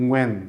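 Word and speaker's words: Nguyễn: 이게 이제 현지어 발음으로는 응우엔 씨가 되겠습니다.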